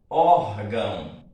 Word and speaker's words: órgão: Vejamos, órgão. Qual é a sílaba tônica? Essa daqui, a sílaba forte. Então, veja que ão é átono.